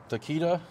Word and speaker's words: Takeda: So then we have the AFE Power Takeda. That's how you pronounce that?